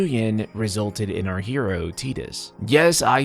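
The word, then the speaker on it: Tidus: I genuinely hate to be the one to break this to you, but that is how it's officially pronounced. Again, Tetus. Okay, Tetus.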